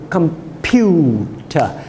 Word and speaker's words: computer: things louder more longer so when we use the word computer it's the middle syllable computer and the pure part is made longer once we begin to